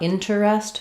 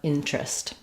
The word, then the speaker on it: interest: syllable just drops, and instead of terest, we just get trist, changes to an R blend. So not interest, but interest.